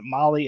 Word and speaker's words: Mahle: for more details and for our podcast listeners Molly is spelled m ahle e yes well let's talk